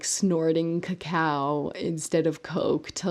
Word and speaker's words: cacao: is a neurotoxin and they actually call it krakow like crack so um and i